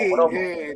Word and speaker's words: pogromo: porque a los españoles nos cuesta pronunciarla porque suena como programa y no tiene nada que ver. Es sí, pogromo. Nosotros a veces hay gente que pone una R, pone pro y no es pogrom.